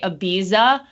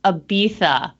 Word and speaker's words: Ibiza: I have uh uh Chrissy never been to Ibiza apparently that's how we pronounce it but you know like the real ones because they'll correct you if you say Ibiza they'll be like no no it's Ibiza but I do this with uh what's the